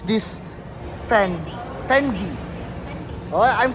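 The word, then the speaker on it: Fendi: Can I ask um how would you how do you pronounce this Fendy? Fendy.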